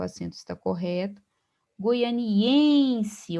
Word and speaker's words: goianiense: Goianiense, observe que a sílaba tônica é o em.